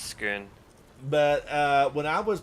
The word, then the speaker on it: Scone: Uh, did I pronounce that that palace correctly? Skoon. Yeah, I don't know. Probably. I don't know cuz it's spelled scone. Um, no, I think it's Scoon.